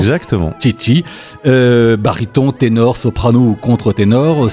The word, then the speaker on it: Chichi: Alors le spectacle, vous êtes donc Ernesto, mais il y a aussi Maria, Carmen, Alfredo et Chichi, c'est comme ça qu'on prononce? Exactement. Chichi, baryton, ténor, soprano ou contre-ténor, 5 chanteurs aussi fous que magistraux.